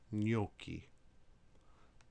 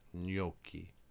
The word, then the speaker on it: gnocchi: Whenever you have a GN together, it sounds like the N as in onion, as in gnocchi. You may be familiar with that, gnocchi.